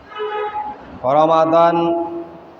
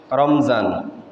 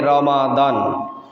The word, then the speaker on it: রমাদান: জবর বিশিষ্ট হরফ অর্থাৎ জবর বিশিষ্ট মিম এর সাথে উচ্চারণ হবে রমাদান রমাদান শব্দটির অর্থ অনেক